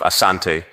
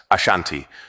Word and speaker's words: Asante: The variant name Ashanti emerged from British reports, where the pronunciation of Asante was transcribed as Ashanti, reflecting how the British heard and interpreted the word.